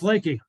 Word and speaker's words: LEKI: It can be Leki, Leki, Leki, or Leki. So it's Leki. And we even have sales reps that are out there around the country that don't pronounce it the same way. So we answer to all names, but Leki, just like a body of water, is kind of what we go with.